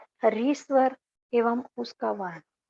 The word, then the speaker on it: ऋ: इसका उच्चारण भी अन्य स्वरों की तरह ही किया जाता था। हिंदी में आकर इसका उच्चारण बदल गया। री की जगह ये र और छोटी की मात्रा आ गई र के ऊपर।